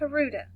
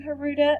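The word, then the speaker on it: Huerta: Well, Dolores, her last name Haruta, is the way I've heard it pronounced, but I've also heard it pronounced other ways. So, as you learn about her in future times, you will also hear her name pronounced differently.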